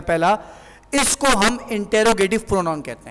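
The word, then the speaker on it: interrogative: मतलब होता है, अच्छा इस लफ्ज़ को प्रोनाउंस गलत करते हैं अक्सर अफराद, इंटरोगेटिव बोलते हैं, ये इंटरोगेटिव नहीं होता बल्कि इंटेरोगेटिव होता है, ठीक है।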